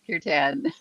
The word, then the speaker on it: Kirtan: Close, Kirtan.